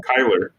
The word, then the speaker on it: Kyler: Kyler. His name's Kyler. Oh my god. Kyle. Yeah, like Cuyler. Yeah, it's not spelled like the usual way you spell Kyle.